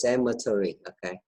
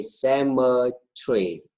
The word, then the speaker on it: cemetery: for you cemetery cemetery you can pronounce these words by two ways the first one is cemetery like you pretty boy you read it and the other way sama tree sandwich three cemetery to